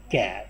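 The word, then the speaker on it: char: इसके अलावा हमारे पास डाटा टाइप आती है कैर, यानी कि जिसको हम चार भी आजकल प्रोनाउंस किया जाता है, कैर भी बोला जाता है, या इसको हम दूसरे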